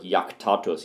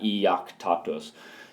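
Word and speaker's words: iactatus: And if you just say the word yaktatus, yak makes 1 sound, so you know it's not iaktatus. You go yaktatus with 1 sound, so that's 1 syllable, and therefore that IS is long.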